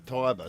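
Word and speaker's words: Tiber: how to pronounce that Loy just came in and said it's the Tyber so I gave you Tyber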